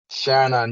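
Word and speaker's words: Stjarnan: your rivals bohemians playing a st iron on is it is that how you pronounce sharon on yeah yeah yeah well playing them away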